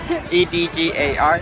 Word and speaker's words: Edgar: how do you say that say that slower e d g a r oh Edgar okay okay you just have an